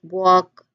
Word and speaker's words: walk: And there's also silent L that has some interesting ones like walk, talk, and even salmon. That L is just not pronounced at all.